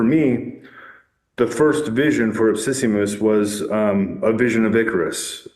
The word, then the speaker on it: Ipsissimus: Epissimus? Ipsissimus.